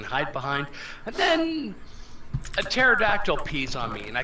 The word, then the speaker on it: pterodactyl: The pterodactyl? Yeah, why couldn't I hear him peeing on my head? Maybe it was a stealth pterodactyl. No, it's the fucking P is silent.